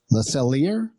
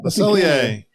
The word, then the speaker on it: Le Cellier: I'm not sure I even know how to pronounce this, so grant me some grace. Number 7 is Le Cellier. Oh, okay. Le Cellier.